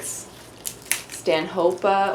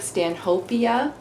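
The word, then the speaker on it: Stanhopea: though it looks like Stan hopia it's supposed to be pronounced Stan hopa because that's his name goodbye okay so gosh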